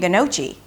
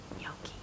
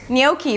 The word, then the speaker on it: gnocchi: And his girlfriend, she was sweet, she's like, "gnocchi". "Of course, gnocchi! Porcini gnocchi, you know, just sorry about that." Anyway, "gnocchi". So the spelling has nothing to do with the pronunciation and the pronunciation is 'nyow'.